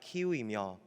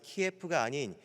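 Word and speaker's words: Kyiv: 우크라나의 수도인이 키예프의 표기방식입니다 저는이 키예프가 원래 쏘인 것은 알고 있었지만 이것이 러시아식 발음인지는 몰랐습니다이 우크라이나가 자기의 언어 자기의 수도는 키예프가 아니라 키우이며 그렇게 계속해서 러시아와 맞서 싸우며 고군분투하니까 차츰차츰 전 세계의 언론 매체를까 다른 사람들이 더 이상 키예프가 아닌 키위로 그 사람들이 그들의 언어로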